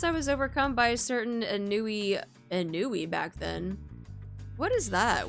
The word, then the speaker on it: ennui: I was like a ennui? No, it's ennui.